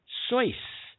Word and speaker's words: Seuss: Seuss pronounced Seuss such that it rhymed with rejoice? Seuss.